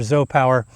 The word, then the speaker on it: ZOUPW: And so yeah, I'm very impressed with this Zop Power. Even though it's spelled Z U PW, it's sp it stands for Zo Power.